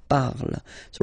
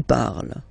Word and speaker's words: parles: You write them differently, of course, because you've got here, and then you've got and s, okay, but then phonetically they are the same. Je parle, tu parles, okay?